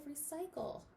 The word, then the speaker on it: recycle: What letter am I missing at the end of recycle? Let's look here. Recycle. I'm missing that silent E at the end.